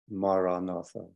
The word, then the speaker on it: Maranatha: would suggest is the word Maranatha four syllables let's just take a